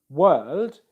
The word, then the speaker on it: world: So in the spelling of the word world, you see W-O-R-L-D. That O-R spelling is pronounced without the R.